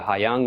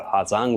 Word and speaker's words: Ha Giang: And if you're feeling particularly adventurous, take time to explore the Ha Giang Loop or the Ha Giang Loop, depending on the pronunciation, in the north of the country.